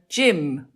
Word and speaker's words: gym: would join a gym so gym it's G followed by y yes and things like